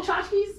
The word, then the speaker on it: tchotchkes: Yeah, T is silent.